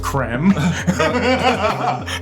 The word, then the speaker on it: Krem: He plays Krem, pronounced Krem.